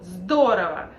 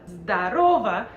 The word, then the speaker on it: здорово: And make sure that you put the stress in the right position, because здорово on the first syllable, здорово means great, but здорово means hello, and a lot of guys usually use this.